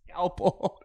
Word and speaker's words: scalpel: Scalpel. What is it? Scalpel. Scalpel. Is that not what I'm saying? Not quite. Try saying scalpel. Scalpel. There's an L in there.